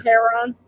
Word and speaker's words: Herron: and then she says perfect pronunciation rhymes with heron sharon herron when people radiate your